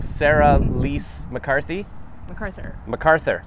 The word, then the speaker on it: Sera-Lys McArthur: So Sera-Lys McArthur.